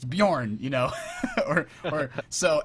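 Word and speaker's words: Björn: week and I uh I I pronounced the guy's name Bjorn when every idiot knows it's Bjorn apparently everybody knows that because they all emailed me and said hey it's it's definitely Bjorn it's it's Swedish it's Bjorn you know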